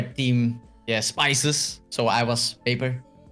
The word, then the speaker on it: Peper: Sometimes people pronounce it wrong and they say PeperTV, but it's Paper.